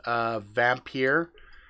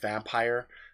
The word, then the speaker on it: Vampyr: For example, I've got this game here called Vampyr, or maybe it's just pronounced Vampire.